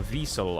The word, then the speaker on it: Wiesel: Or a Wiesel, I guess, as it would be pronounced in its native tongue of German.